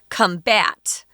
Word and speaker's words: combat: it's a noun and this word combat is pronounced differently based on whether it's a noun or a verb if it's a noun